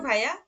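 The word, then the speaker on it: wie: উম, ই এ পাশাপাশি থাকলে হুম, আমাদের উচ্চারণ হবে ই। ওকে। যেমন ভি, ভি গেটস ডিয়ার।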